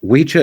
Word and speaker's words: wicca: Like Wicha is how you say it when you're talking about a man. Wiche is how you say it, or Wichi, when you're talking about a woman.